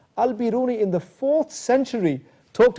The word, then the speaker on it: al-Biruni: darby and everybody knows a great scholar called al-beruni or al-biruni as it's correctly pronounced al-biruni in the fourth century talked about these issues